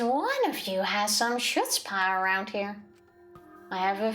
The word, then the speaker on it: chutzpah: Oh, I mispronounced it, didn't I? Guttural What's a guttural Chutzpah.